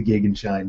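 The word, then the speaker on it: Gegenschein: related is called the Gaghan shine that is actually at the anti-solar point and I check the pronunciation of that two or three sites agree that the german pronunciation is the gig and shine so for people tell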